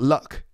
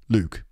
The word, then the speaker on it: Luke: Not la, not luck, not luck, Luke. And not like, and not look. It's not look. It's not look. It's Luke.